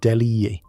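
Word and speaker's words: Delije: Red Star supporters who congregated in the north stand, the Se eventually consolidated under the name Delier, pronounced Delhi.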